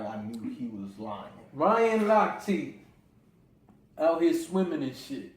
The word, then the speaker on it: Lochte: Your man Ryan Lochte, because you corrected me, I was saying it wrong. I was calling him Lochte. Yeah, like his name just looked like it.